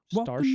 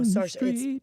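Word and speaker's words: Saoirse: Starsha. No, Sarsha.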